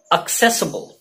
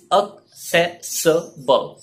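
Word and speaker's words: accessible: एक्सेसिबल, एक्सेसिबल या असेसिबल दोनों ही गलत प्रोनाउंसिएशन है, बहुत यूज होते हैं। The correct pronunciation is अक्सेसिबल।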